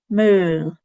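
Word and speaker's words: maol: On the right, my favourite sound in Gaelic is is spelled AO, and you have to imagine that you're either disgusted or really bored. So it's And this word here is mool. Mool. I suggest you practice that lots.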